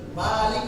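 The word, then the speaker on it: مالك: Malik Yaumiddin, panjang, nggak boleh pendek.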